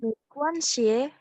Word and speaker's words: 没关系: 没关系， Mm-mm. 没事儿，没事儿, oke. 没关系. XI bacanya S-nya kayak sisir ya.